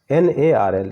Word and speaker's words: gnarl: deform यानी टेढ़ा मेढ़ा, GNARL होता है और पढ़ते हैं NARL यानी जी को साइलेंट मानते हैं, गोरी या ब्लडी